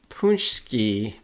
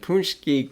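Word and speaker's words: pączki: So Detroit, and I've been dreading having to say this word because the pronunciation is Polish, and I do not speak the language. So Detroit City Distillery Punschki Day Vodka and Punschki Cream Liqueur.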